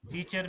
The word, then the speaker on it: teacher: जी okay, लेकिन नहीं, टीचर में तो आर प्रोनाउंस नहीं है, टीचर में नहीं है, टीचर, ठीक है, टीचर, चर नहीं है, च।